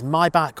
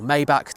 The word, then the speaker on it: Maybach: They even do offer another one as well called the Mercedes Maybach or Maybach, depending on how you want to pronounce it.